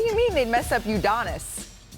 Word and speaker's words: Udonis: Udonis. Udinis. Udonis.